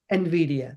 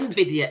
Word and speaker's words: NVIDIA: You have to pronounce it. NVIDIA, that's correct. NVIDIA, excellent, okay.